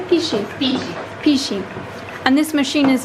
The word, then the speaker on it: pici: Pici.